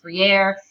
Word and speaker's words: Freire: the Ephesus here's Paulo Freire or free of course those are both butchered American pronunciations of Portuguese or kind of Spanish sounding names of I have most often heard it pronounced free air but if you have